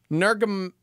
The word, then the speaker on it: Nurmagomedov: Nurmagomedov.